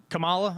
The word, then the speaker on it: Kamala: have to know her name you're reporting here kamala kamala kamala i do think kamala is very